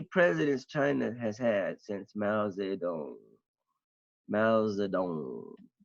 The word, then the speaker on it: Mao Zedong: China has had since Mao Zedong mouths the don't and I'm pronouncing that correctly because I lived in China I know how to pronounce Chinese okay so since Mao Zedong you've got seven presidents